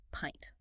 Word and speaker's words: pint: I pint pint. It rhymes with giant or client.